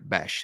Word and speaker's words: Bech: Go and search for Jack Besh, and that is spelled Bech on YouTube.